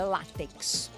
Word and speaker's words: látex: O certo é látex. Muita gente fala: "Ah, precisa de uma tinta látex". Não é? É tinta látex. Ela é uma paroxítona terminada em X, por isso ela leva acento.